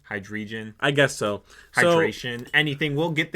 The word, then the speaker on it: Hydreigon: I'm assuming I say it wrong every single time, but it's just hide the like H2O, like hydrogen, like that. So it's hide and then region, so hydrogen. Or, wow, I can't Hydreigon? Hydreigon.